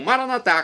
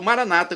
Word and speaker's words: maranatá: E agora eu clamo maranatá, como dizemos nós católicos, ou maranata, como dizem nossos irmãos separados, os evangélicos ou protestantes. Não importa a pronúncia, o significado é o mesmo.